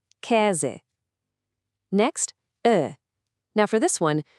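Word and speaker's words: Käse: First up is e. It makes a sound kind of like the e in bet. Listen. Ke. That means cheese. Go on, repeat after me. E. Ke.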